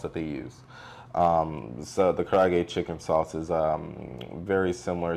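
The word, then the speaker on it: 唐揚げ: So the traditional Japanese fried chicken, pronounce that for me. That's a karaage.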